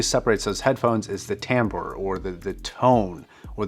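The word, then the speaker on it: timbre: treble mid-range all that stuff is something called Tambor and it's actually pronounced Tambor even though it's spelled t IM bre and a real quick rundown is what Tambor is is the difference in tonality and sound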